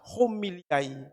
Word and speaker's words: homili: Paulus bilang, erosin ete resta homiliai kakai. Homili. Erosin ete resta homiliai kakai. Terjemahannya adalah, homili atau khotbah yang buruk merusak kebiasaan baik. Khotbah homili, H, ini, oh itu bacanya ada H. Di homili.